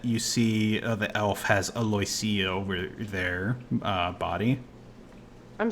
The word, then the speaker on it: Aloysia: name was aloia oh hey and I did pronounce it right aloia telfin thank you pronunciation guide um but yeah